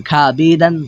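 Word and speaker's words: خوابیدن: শুধু এতটুকু জেনে রাখুন যে এখানে ওয়ার উচ্চারণটা হবে না, শুধু আলিফের উচ্চারণটা হবে।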